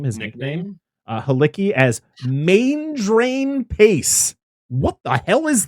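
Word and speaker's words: Maindrian: Halicki as Main Drain Pace. What the hell is that? It gets pronounced Mandrian. No. I want to call him Main Drain.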